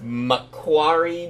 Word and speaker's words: Macquarie: Macquarie Mortgages.